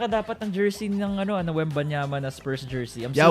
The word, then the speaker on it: Wembanyama: Wait, before we start, can we all pronounce Wemby's last name? Let's see if we all get it right. Wembanyama. I think you're right, Mara. Let's go with that. Wembanyama.